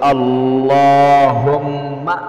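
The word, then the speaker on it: اللهم: পাঠ করবেন স্ক্রিনের মধ্যে দেখে দেখে সহি শুদ্ধ উচ্চারণটা শিখুন আল্লাহুম্মা বলতে হবে আল্লাহুম্মা ইন্নাকাবুল আবারো পাঠ করুন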